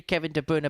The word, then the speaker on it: Kevin De Bruyne: one out there as an example is it Kevin De bruyne 58 or is it Kevin De Bruner it should be Kevin De Bruner but he's been anglicized I was originally told